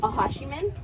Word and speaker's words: Acjachemen: Well, I don't think there's necessarily a preference, but yes, it would be, the Acjachemen is the pronunciation of it, but the Juaneno Band Mission Indians and the Acjachemen, yes, to follow.